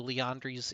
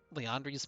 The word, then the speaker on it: Liandry's: like a given so leondri's main immune why am i saying it with a long a it's liandry's where am i from